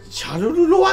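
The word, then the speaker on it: Charleroi: の 3 位のやつは、シャルルロワって読むの、はい、あれ。そうです。シャルルロイ。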